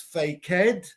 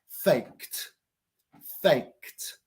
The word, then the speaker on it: faked: correct the past tense are fake is not pronounced fake head it's pronounced faked faked Aura boys so in La Clase faked is